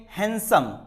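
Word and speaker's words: handsome: आपने किसी को बोला होगा यू आर हैंडसम, नो, D silent होता है क्योंकि एन के साथ में आता है, इट्स ए हैंडसम।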